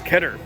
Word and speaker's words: Keter: got their keter oh i always have to say ketter it's not pronounced keter it's ketter they have their adirondack